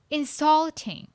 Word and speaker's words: insulting: Insulting. Insulting. Which syllable is the loudest? Yes, the second syllable.